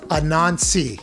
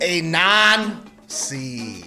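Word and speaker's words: Anansi: spider that is correct a non-see yeah see you said something i'm going to repronounce that a non c there we go c yeah yeah c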